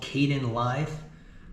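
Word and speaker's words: Kdenlive: really easy to use this is called Caden live uh you saw me install it in the video it's spelled k d n l i v e and that's exactly what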